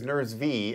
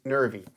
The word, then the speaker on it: Nervy: is the nervy and I know it looks like it says nures V and later in the video you're going to hear me try to figure out how to say this name but I had to ask them and it's nervy so if you buy